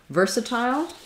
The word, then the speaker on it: versatile: you also asked about versatile um and that's a case where the ver is stressed so you definitely need